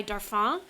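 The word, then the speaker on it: Darphin: and they're so sweet so kind is by darf ah and it's spelled dar Phin their brand is incredible they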